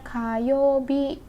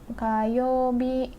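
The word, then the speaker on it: 火曜日: ya Khan jihad api ini biasanya ada di hari Selasa memadati hari Selasa ya dibacanya kayobi kayobi kayu Hai yang lalu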